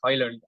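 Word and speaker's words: Højlund: uh Rasmus oil and he just mentioned his pronunciation as oil only so D is also silent but he doesn't mind if anybody calls him audio and or Holland or whatever they want to call him so that depends on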